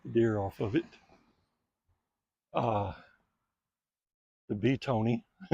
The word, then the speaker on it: Betony: The Beetony, it's it's spelled Betony, so I call it Beetony. I think it's actually pronounced Bethany, but I call it Beetony.